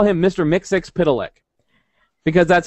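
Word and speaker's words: Mxyzptlk: it because I say I call him Mr miix pck because that's how you say his name but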